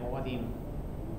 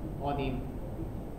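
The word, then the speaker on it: Vadim: This is actually a Russian name, and it's supposed to be pronounced something like Wadim. Wadim.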